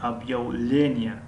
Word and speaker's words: объявление: яъне дар ин ҷо ударение ё аломати зада бигӯем дар ҳарфи е ҳаст, яъне объявление, объявление. аммо дар ин ҷо ҳарфи б каме ғафз талаффуз мешавад.